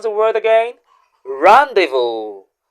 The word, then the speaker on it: rendezvous: The letters zed and S in that word are both silent. So, how do you pronounce the word again? Rando. Rando.